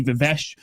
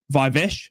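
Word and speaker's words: Viveash: Adi Vesh or Adi Vive I have been told to pronounce.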